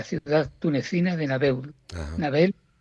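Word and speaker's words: Nabeul: Nabel, Nabel o Nabul, que yo creo que se pronuncia Nabel.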